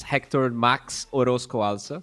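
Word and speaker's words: Héctor Max Orozco Alza: It's Hector Max Orozco Alza, so yeah, pretty good.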